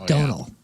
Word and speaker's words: Domhnall: But he's got a name that is spelled Domhnall, but it's pronounced Domhnall. like tonal. It's Donal.